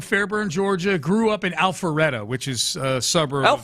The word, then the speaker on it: Alpharetta: Okay, so I pronounced that wrong. It's Alfreda. Huh? At least the guy I know pronounces it Alfreda.